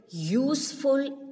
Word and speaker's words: useful: a cow is a useful animal though this useful you is a vowel but the pronunciation of this word useful comes like you so whenever any word